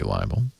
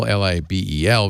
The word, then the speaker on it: libel: in it would be liable by way libel li b e L versus Li a ble I should pronounce this differently you libel is liable liable liable don't lie